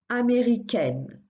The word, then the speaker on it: américaine: But if you add an E at the end, that changes that sound.